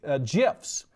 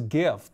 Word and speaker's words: GIF: Everybody says GIF, but I guess it's officially pronounced GIF.